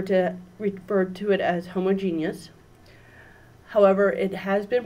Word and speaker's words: homogeneous: that's word is actually pronounced two different ways depending on whether or not you're a chemist or if you are